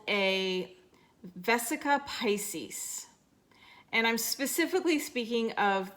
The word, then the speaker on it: vesica piscis: called vesica Pisces and a lot of people pronounce it vesica Pisces but it's actually vesica Pisces and this is supposed to show us the